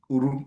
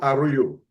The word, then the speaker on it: Uru: Where you born? U-R-U. U-R-U. Are you? And the full name of the U-R-U.